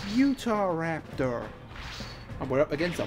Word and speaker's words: Utahraptor: new direct Yoda Raptor we're using Yoda Raptor nikai can't even say it right it's Utahraptor and we're up against